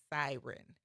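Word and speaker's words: Psiryn: group called Siren, but their name is spelled PSI R Y N, but it's pronounced Siren.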